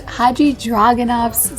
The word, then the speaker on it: Hadjidraganov: We are at a new restaurant, which is pronounced Haji Dragonov's Cellar.